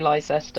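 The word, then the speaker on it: Leicester: yeah yeah I do I think some of our older places are weird like that I think they were anglicized later like leester Square people say Lester and there's wora people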